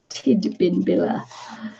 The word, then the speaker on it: Tidbinbilla: Oh, Tidbinbilla. It's a D, not a B. Tidbinbilla.